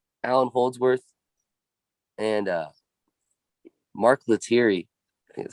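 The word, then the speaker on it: Lettieri: herring isaiah sharkey allen holdsworth and uh mark luteri is how you say his name that guy's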